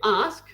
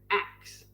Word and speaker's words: ask: Actually, they don't say ask like ASK, like how it's spelt. They say ax. I ax you a question. AX or AXE, like as in the cutting tool.